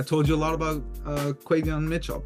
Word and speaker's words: Quinyon: It obviously hurts me to see this pick being made because obviously I told you a lot about Quinyon Mitchell. I believe that's how you pronounce it.